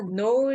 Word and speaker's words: know: know 알다, know, knew, known. No new known. know, knew, known. No new known. 알다 K가 묵음입니다. 여기서 발음이 안 돼요.